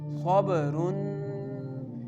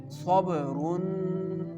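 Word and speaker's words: صَبْرٌ: Okay, so you can pronounce it like sabrun, sabrun. When we pronounce the tanween, the noon sound will pronounced and it will go in our nose.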